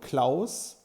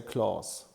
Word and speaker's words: Claus: In German you say the word claus. You would say my namelaus while in English you would say clause.